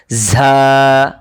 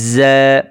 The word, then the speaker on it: ز: অনেকেই জায়ের পরিবর্তে বলেন ঝা। এখানে তো এক মুখ খুলে গিয়েছে, ঝা হয়েছে, দ্বিতীয় ঝা হবে না, হবে জ্যা।